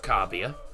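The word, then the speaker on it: Kabia: I'm saying it's pronounced Cabia because he's Dutch. So it would be pronounced Cabia.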